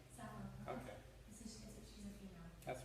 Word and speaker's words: Sappho: a 17th century poem by a poet named Sappho. Any of you English literature majors, do you know who Sappho is? Okay, we got somebody who knows Sappho. Am I saying his name right, her name right? Sappho.